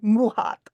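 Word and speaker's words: Maat: every I oh sorry muh was is how it's pronounced okay m a a t is muh M hly I don't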